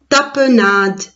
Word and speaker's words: tapenade: as peu nom de tapenade la lettre e à la fin je ne prononce pas tu es les miettes